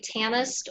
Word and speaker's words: tanist: on how do you say tanist or prince? Tanist. T-A-N-I-S-T. Yes. The A is like a version of so punished. The I is sitting next to an S, so that makes it have the shushy sound.